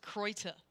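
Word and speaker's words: Kräuter: I mean, Okay, so I was also informed, apparently, Krauterhumpen is the funnier version, but it should be pronounced Kreuter.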